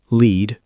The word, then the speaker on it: lead: Lead, verb, pronounced lead. Long E. Shadow. I lead the team. Now pause and repeat lead 5 times. Lead, metal, pronounced lead. Short E. Shadow.